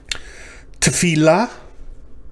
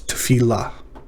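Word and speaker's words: תפילה: So t, fil la, three syllables. Tefillah.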